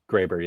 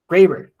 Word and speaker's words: Graber: Is that how I pronounce it? Graber, yeah. Graber.